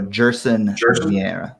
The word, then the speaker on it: Gerson: Okay, so it's G like a J. So Gerson. So we were pronouncing it correctly.